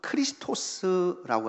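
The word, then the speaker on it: Χριστός: 헬라 발음은 크리스토스라고 하는 그런 발음으로 읽혀집니다.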